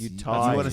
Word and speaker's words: Utahns: Utahns. Utanian? I always wanted to go to Utanian. It's Utahns. you want to say Cool. Utanian?